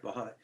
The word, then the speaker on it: Valholly: Valholly, am I pronouncing it correctly? Yeah. Okay, Valholly.